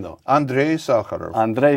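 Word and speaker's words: Sakharov: the wife of Andrea s Andre I sakarov pronounce it for me Yuri sakarov first name though Andre sakarov Andre sakarov in 1980 well we'll come to what happened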